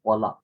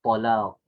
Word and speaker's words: talaq: kita selalu dengar istilah talak, betul? Orang Melayu kata panggil talak. Yalah, talak tak apalah, tapi yang tepat pronunciation dia adalah huruf qa, talaq.